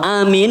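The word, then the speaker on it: آمين: dan diperhatikan lagi tulisannya memenya itu bertasydid atau tidak memenya tidak bertasydid maka jangan di tasdid jangan itu salah kalau Amin yang benar tadi yang bacaannya benar Apa artinya para jamaah Amin itu artinya ya Allah kabulkan Ya Allah kabulkan allahummastajib Ya Allah kabulkanlah doa kami yang tadi dibaca oleh Imam minta Hidayah kalau mimnya di tasydid Amin itu artinya orang-orang yang sedang berjalan nggak nyambung toh kita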